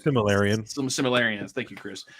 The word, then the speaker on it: Silmarillion: I never say it right, but the book in the Silurion, or however they say it, like Silmarillion.